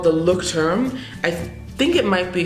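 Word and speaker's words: Leuchtturm: at a bookstore it is it's called the look term I think it might be from ger it's from Germany it's spelled l e I don't even know if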